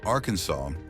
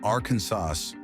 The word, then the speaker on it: Arkansas: You have to say it with the final S, silent, reflecting its French origin.